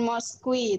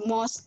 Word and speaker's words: mosque: Jangan Moskwi, tapi Mos aja bacanya.